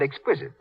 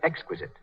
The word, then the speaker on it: exquisite: runs is positively miraculous mary jane's mother said exquisite she should have said exquisite as for example every